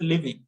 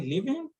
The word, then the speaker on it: leaving: living why are you living early is sounding like okay leaving what is he saying so if this is not written on the screen it will become a problem for you so you want to make sure the pronunciation is totally different now read it like this why are you leaving early we extend leaving leaving early so it is never the same as living okay yes line again